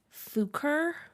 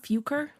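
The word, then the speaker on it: Fuchur: as the English ones the original name for falor for example was fuker fuk F fuker yeah I don't know f u c h r so put that into a German pronunciation um which is kind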